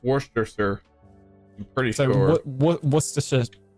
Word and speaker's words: Worcestershire: not, because you don't actually say shire. You say sure. Yeah, it's pronounced Worcestershire.